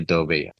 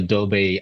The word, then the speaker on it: Dogbe: No, not Abigail Dogbe. Abigail Dobe actually is part of our community, but she's currently in the US.